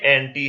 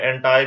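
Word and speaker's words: anti: और जो ये थर्ड है ये एंटी है, एंटी अपोजिट है, एंटाई भी समटाइम इसे प्रोनाउंस करते हैं।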